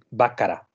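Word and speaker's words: Bacharach: mostrando equipo de marca bakará se dice si va cara pero se escribe bachar h el equipo de abajo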